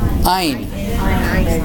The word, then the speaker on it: ene: Ein. That's how you say it. Ein, like German.